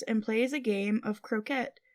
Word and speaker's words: croquet: plays a game of croette. Is it croquette? Croquet? They say croet. Um, I think that's how they say it in England. Okay. Or in the book at least at that time period.